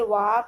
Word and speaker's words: walk: Its spelling is, correct spelling is W-A-L-K, but L is silent because we are not pronouncing that letter.